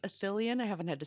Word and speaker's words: Ithilien: they wake up in, is it pronounced Athelion? I haven't had to say it in a while. Ithilien, yeah.